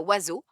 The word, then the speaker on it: oiseaux: ou trouver sa moitié je pense aussi à oiseaux dont on ne prononce aucune des lettres qui le composent o i s e